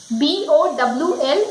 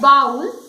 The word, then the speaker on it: bowl: B-O-W-L, it is not bowl, It is bowl.